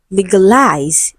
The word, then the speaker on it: legalize: In spoken English, that is in speech, the stress shifts for legalize. Okay, it shifts to the last syllable, and so when we speak, we say legalize.